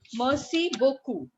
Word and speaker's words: merci beaucoup: It is pronounced as merci beaucoup.